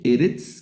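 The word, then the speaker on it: אֶרֶץ: la regla dice que las palabras milel se acentúan en la penúltima sílaba. Penúltima sílaba. Esta se lee Eretz, que significa tierra.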